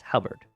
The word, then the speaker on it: halberd: I never know how to pronounce that. It's halberd.